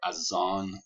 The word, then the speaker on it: azan: link here you'll have the adan or azan as it's pronounced in in the persian pronunciation the call to prayer